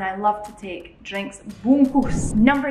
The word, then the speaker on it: bungkus: Now I'm saying that the correct way this time. You guys gave me hundreds of comments last time saying, Alana, did that bungkas? Bungkus ini. Sorry for the mispronunciation last time.